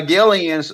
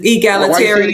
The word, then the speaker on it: egalitarian: It's egalitarian. Say it again. Egalitarian. That's how you Yes, ma'am. That's how you say it.